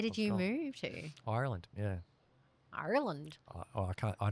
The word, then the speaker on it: Ireland: She's like, it's not Ireland. I was like, well, how do you say it? She's like, Ireland. And I was like, but I can't say it without the R because I don't know how.